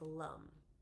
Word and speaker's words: lam: help or the uh seed sound of the root chakra is Lum l a m and is um pronounced Lum if you if you